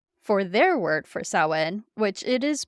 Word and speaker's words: Samhain: I did the recap, I did say Samhain because it is Samhain. Um, my pronunciation might be a slight off depending on what part of Ireland you're from and everything. Um, the audiobook does say Sam Hewen, and if that's the